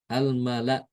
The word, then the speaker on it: almala: Jadi dibacanya almala. Kalau hafaz kan bacanya almala gitu ya, almala. Kalau hisyam almala.